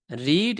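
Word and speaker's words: read: এরপরে পড়া, পড়া ইংরেজি আমরা রেড, রিড এর উচ্চারণটা রেড হয়, তাহলে আমরা রেড, এরপরে বুকস হয়ে গেল।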